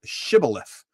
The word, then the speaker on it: Shibboleth: And if he said, 'Nay,' then said unto him, 'Say now Shibboleth.' And he said, 'Sibboleth.' For he could not frame to pronounce it right.